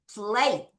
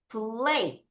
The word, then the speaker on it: plate: 자, 얘도 우리 친구들이가 소리가 안 납니다. 또루 매직의 발동에서 a가 a 발음이 날게요. 자, 같이 한번 발음해 보겠습니다. 다시 plate 천천히 plate 좀 빨리 plate 다시 plate 한 번